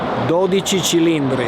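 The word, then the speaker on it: 12Cilindri: I can't pronounce it, so I'm describing it. How do you say it, Stefano? 12 cilindri.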